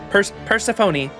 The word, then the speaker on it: Persephone: Persephone. What a lovely oath by a lovely goddess. I'm touched. Truly. I see. So you have sworn this oath on your precious daughter, Lady Persephone.